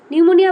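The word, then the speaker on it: pneumonia: নিউমোনিয়া বানানটা দেখেছিস, পি দিয়ে শুরু, আমি কিন্তু নিউমোনিয়া বলছি না, হ্যাঁ, পি এর উচ্চারণটা সাইলেন্ট।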